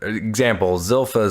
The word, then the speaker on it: Zilpha: Well, like, so for example, Zilpha's life.